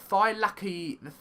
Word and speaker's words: Thylacoleo: It is pronounced the Thylacoleo.